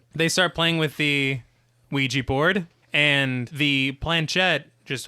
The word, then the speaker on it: Ouija: One thing I always feel weird whenever I pronounce Ouija, I read that it was named after yes in French and yes in German, so it should be pronounced Ouija.